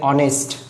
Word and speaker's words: honest: बघा, so here R is used, like honest. Here it begins with H and H is silent.